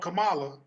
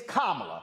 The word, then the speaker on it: Kamala: right her name is it's not kamala it's kamala so can we go ahead and get it right her damn name is